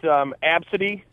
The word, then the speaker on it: ABCDE: I've got Absidy, which is spelled ABCDE.